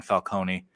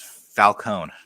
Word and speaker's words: Falcone: I mean, but it's Falcone, not Falcon.